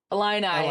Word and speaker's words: Illini: I think it's the Illini. Illini Illini there we go.